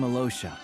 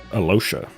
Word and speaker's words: Alyosha: I'm Alosha. He doesn't even try to pronounce the Y. Just ignores it. Alosha.